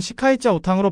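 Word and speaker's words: 西开教堂: 한자로는 서계교당으로 불리는이 성당은 현지 중국어로는 시카이자 오탕으로 발음되며 텐진에서 가장 규모가 크고 역사적으로도 중요한 로마 가톨릭 성당입니다.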